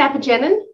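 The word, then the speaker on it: apigenin: okay yes yeah is that how you you pronounce it epigenin yeah okay yeah yeah i so i don't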